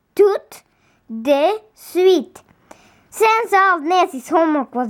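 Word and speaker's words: tout de suite: sweet means right away in french you say it like this tooth de sweet sense of nessie's homework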